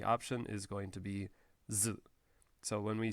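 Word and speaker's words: づ: So this one also is pronounced zu.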